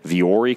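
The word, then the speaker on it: Vuori: V or E clothing it's spelled V u o R I I know it's kind of weird viore clothing calm and you have to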